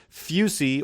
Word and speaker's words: fusee: However, it's still a rather mysterious typo as Fusee is pronounced Fusey or Fusey, which would not have been written as fuzzy in any dialect of American English, which I am familiar.